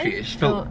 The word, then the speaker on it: Filet-O-Fish: Filet-O-fish. Filet. See, I don't like how it's spelt. Why is there a T in filet-o-fish if you don't say the T?